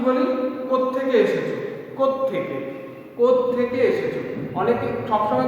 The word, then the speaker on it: কোত্থেকে: যে কোথা থেকে এসেছো, আসলে কোথা থেকে কথাটাই হচ্ছে কি দ্রুত উচ্চারণ করতে গিয়ে আমরা থয়ের সঙ্গে সংযুক্ত করে দিই, অর্থাৎ দুটো থ ব্যবহার করি একসঙ্গে।